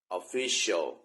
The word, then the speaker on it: Official: ตรง นี้ นะ ว่า มัน ออก เสียง ว่า ยัง ไง คือ คำ ว่า Official Official ที่ เป็น ทาง การ มัน ต้อง หนัก ที่ หนัก stress เสียง ดัง ที่ คำ ว่า จะ พูด คำ นี้ ผิด นิด นิด นึง นะ